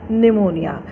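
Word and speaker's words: pneumonia: हैं ऐसे, एज अ निमोनिया. शी हैड निमोनिया, PNEUMONI. लेकिन निमोनिया की स्पेलिंग एन से नहीं लिखते हैं, P से शुरू होती है. P is silent hair.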